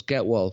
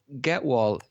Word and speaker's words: Gehwol: So Gewal. Pronounce that? Get Wall. Okay, right. Yeah. Sounds like there's a T in there, but there isn't a T in there. No, there's no T.